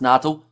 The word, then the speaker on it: Natal: It's pronounced Natal, says Roof.